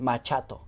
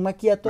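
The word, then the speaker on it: macchiato: gustaría aclarar y es la pronunciación de maquiato porque muchas personas llegan y dicen el machat otros dicen el machiato es un maquiato maquiato la ch en italiano es como la q Sí por ejemplo se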